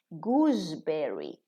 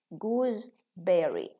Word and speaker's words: gooseberry: So when it's combined with berry, we say goose with a za, gooseberry.